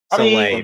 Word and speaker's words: Soleil: Soleil Belmont, that's how it's pronounced.